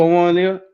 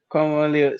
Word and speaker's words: Kwon Won Il: Kwon Won Il. Yeah. Kwon Won Il.